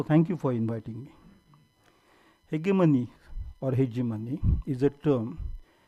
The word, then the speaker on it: hegemony: The term hegemony, or as I normally pronounce it as hegemony. Shall I proceed with hegemony or hegemony? Or both? Okay. I mean, the dictionary says hegemony. I say hegemony.